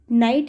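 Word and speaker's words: knight: तो देखो मैंने जितने वर्ड्स बोले हैं इसमें मैंने कहीं पर भी कैसे यहाँ पर स्टार्ट नहीं किया है, तो यहाँ पर के क्या है हमारा, साइलेंट है।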